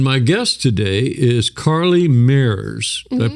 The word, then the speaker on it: Meurs: And my guest today is Carli Meurs. Did I pronounce that right, Carli?